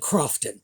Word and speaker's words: Croughton: variety of pronunciations, but I've decided to go with the one that ends in an F sound.